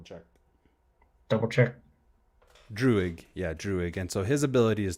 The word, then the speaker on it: Druig: Did I pronounce it right? Hold on, let me just double check. Double check. Druig. Yeah, Druig.